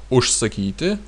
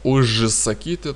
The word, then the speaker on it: užsakyti: Ушсакити, ушсако, ушсаке. Ушсакити, ушсако, ушсаке. Это как уж и сакити. Потому что и так, так произносится, как ушсакити. Ушсакити. Но это ужсакити так не произносить, поэтому произносим ушсакити.